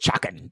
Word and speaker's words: Chakan: It's actually pronounced Chakan.